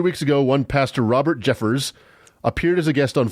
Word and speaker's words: Jeffress: the form of pastor Robert Jeffress and his pronounced Jeffress a sheep I got it wrong it's Jeffers not Jeffress this guy yeah it's spelt